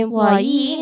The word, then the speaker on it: employee: Because some words or words that end in e usually describe the person who receives an action. Someone affected by something. An employee is someone who is employed.